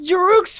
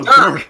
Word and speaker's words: Dirk: No, Dirk. Dirk. Okay. Look at that Dirk. word. Look at that word and spell it out. Sound it out. You see how it says like Herc? Like Herc.